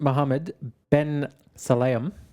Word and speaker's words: Mohammed Ben Sulayem: FIA President Muhammad Ben Salam.